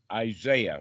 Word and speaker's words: Isaiah: This time I've got it Isaiah, right?